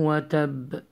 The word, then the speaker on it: وتب: Also, when you stop on the ba, you have to apply echo sound qalqala.